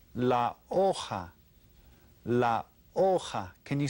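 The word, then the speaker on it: hoja: called la la la aha can you say that la aha because you don't pronounce the H oh ha okay then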